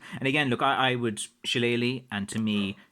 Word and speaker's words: Shillelagh: trying to explain about the word Shillelagh, which again is what I would call it. But again, I'm from Kerry in the southwest, and different parts of Ireland pronounce things differently.